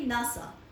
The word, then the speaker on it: NASA: Acromion लिखेंगे, वो लिखेंगे नासा. लिखेंगे NASA, लेकिन उसको बोलेंगे नासा, ऐसे नहीं बोलेंगे NASA.